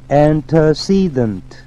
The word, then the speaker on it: antecedent: antecedent, antecedent 발음에 주의하세요. 강세 위치에 antecedent.